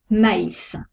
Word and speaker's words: maïs: exemple le très bas il sépare de voyelles pour bien prononcé distinctement les deux lettres exemple maïs on prononce le a et le y sent le tréma la